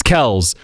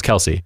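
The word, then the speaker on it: Kelce: viral recently tra the Travis and Jason how pronounced their last name right yeah Kel right it's Kel's but they've been like at this point just call us Kelsey cuz it's just easier for us to deal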